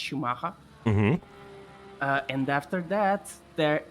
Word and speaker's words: Schumacher: That is, yes, that's how it's pronounced, Schumacher.